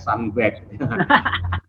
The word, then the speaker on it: Sunbag: Jadi ya memang harus dibaca pakai ini ya, pakai ejaan, pakai accent Inggris ya, Sunbag.